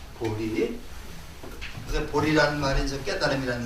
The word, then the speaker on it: 보리: 보제라고 읽지 않고 이거를 보리라고 읽습니다. 보리.